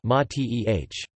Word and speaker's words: mate: A traditional drink of Argentina is an infusion called mate in Spanish, mate, with the accent on the first syllable, mateh. The name comes from the hollow gourd from which it is traditionally drunk.